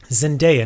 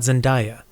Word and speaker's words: Zendaya: Zendaya, not Zendaya.